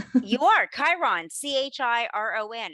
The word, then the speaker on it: Chiron: what is like the Chiron effect like and hopefully I'm saying that right you are Chiron c-h-i-r-o-n it's pronounced the CH is like a k exactly like you said